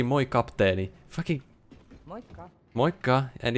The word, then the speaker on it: Moi, kapteeni: No Finnish person would say it like that. If they said... Hi, Captain, they would say Moi, Kapteeni.